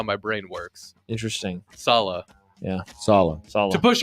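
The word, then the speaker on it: Saleh: name always confuses me because the way it's written is not how it's pronounced so I that's how my brain works interesting Salah yeah Salah Salah to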